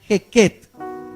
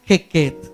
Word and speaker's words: Heket: y ese Dios rana se llamaba la diosa hequet se escribe h e k e t diosa hequet esta diosa hermano estaba de la siguiente manera